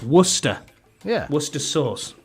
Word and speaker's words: Worcester: said it right Wester no it's it's wer Worster that's what I said yeah like like the sauce Worcester yeah Worcester sauce right